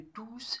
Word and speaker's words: tous: Dans certains cas, le S final de tous se prononce. Le risque de confusion n'est plus possible. Par exemple, les concurrents sont tous là. Les concurrents sont tous là.